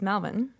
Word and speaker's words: Melbourne: talk about, but it's just weird to say Australia and how would I even pronounce Melbourne? It's Melbourne.